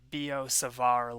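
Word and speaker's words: Biot–Savart: so this is the the t is silent there and the i sounds like e so this is b o and then the t is silent here savar b o savar la now similar to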